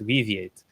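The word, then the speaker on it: Weaviate: uh that's that's what we do also it's pronounced weate um okay yeah so that is uh that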